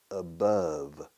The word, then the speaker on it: above: Mount Everest is 9,000 meters above sea level. Madrid is 700 meters above sea level. Above. La pronunciación por encima de o sobre. Above. Rima con amor. Love. Y con guante, glove.